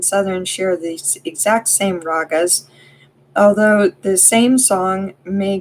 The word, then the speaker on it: raga: Another word for song is raga, pronounced rag, with a soft A sound.